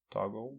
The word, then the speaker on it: Toggl: I have this app it's called toggle I think that's how you pronounce it toggle yes let's talk will tio ggl yeah correct comm which I saw